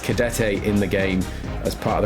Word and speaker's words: Cadete: recognise, I always thought he was called George Cadet, but he is pronounced Cadete in the game as part of the glorious commentary.